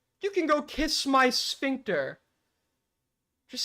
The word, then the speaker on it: sphincter: You're a That's not how you pronounce sphincter. Okay. It's not a German word. Okay. It's not a sphincter. Okay. It is sphincter.